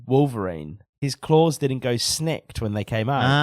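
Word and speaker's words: snikt: His claws didn't go snicked when they came out. Ah, yeah. That's a shame. I didn't notice that, but now I realize I'm sad. It was sneak as opposed to snicked.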